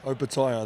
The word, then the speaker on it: Opetaia: And we cleared things up because everyone pronounces your name wrong, and we're just going to get it on the record. Opetaia. Opetaia, that's correct.